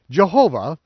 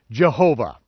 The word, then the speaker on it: Jehovah: used in English today Jehovah a name that is found in many English Bibles is a hybrid word that is derived by pronouncing the for vowels consonants in adding the vowel pointings for the Hebrew Adonai which means Lord this deliberate misspelling